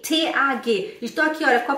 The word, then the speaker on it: Tag: Em alemão a gente fala Tag, não é Tag, é Tag. Mas já que está escrito com G, T-A-G, estou aqui, olha, com a palavra do número 22.